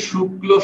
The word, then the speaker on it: শুক্ল: অমল তাহলে বলেন তো শুক্ল শব্দের উচ্চারণ কি শুক্ল প্রথমে সিঙ্গেল লিখবো শুক্লো এর পরে পুরোটা লিখবো বুঝছেন কি জি